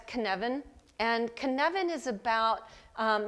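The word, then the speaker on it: Cynefin: is called Canan um the reason you can't pronounce it the way it looks is because it's a Welsh word and so that's Canan and Canan is about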